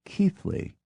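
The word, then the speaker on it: Keighley: e i g h l e y is keithly h o l n i o t e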